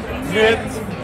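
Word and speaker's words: nicht: Knit. Knit. Knit. No, knit. Not knit. It's knit. N-I-C-H-T.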